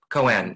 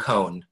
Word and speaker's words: koan: and I think then Co n is that how you pronounce it co n not cone go on go on